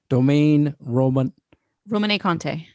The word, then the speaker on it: Domaine Romanée Conti: What's the proper pronunciation? Domaine Romanée Conti.